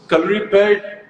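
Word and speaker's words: Kalaripayattu: So, Calorie Pad, Hrithik, I'm so proud of the fact that you said the name correctly because in India, I Thank don't you.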